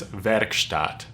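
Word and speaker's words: Werkstatt: got was the moog workstat um i say workstat but because in german it's verkstat verstat verkstadt the work stat 01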